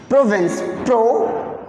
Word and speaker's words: Provence: Listen, it is Provence, Provence. Suzanne, you can say like that, Suzanne.